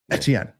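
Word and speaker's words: Étienne: I mean, technically speaking, as a French, if you pronounce it truly French, and French is usually pronounced quickly, Etienne. Like Etienne.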